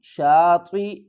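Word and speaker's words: شاطئ: کے ہجے کرتے ہیں۔ شین الف زبر شا، طا زیر تی، شاطی، اس یا کو ہم نہیں پڑھیں گے، حمزہ کو پڑھیں گے۔ یہ جو زیر ہے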